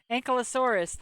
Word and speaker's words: ankylosaurus: uh ankylosaur and kylosaur am i not saying that name right ankylosaurus ankylosaurus there we go that's my that's my fault i forgot the last syllable ankylosaurus oh yeah i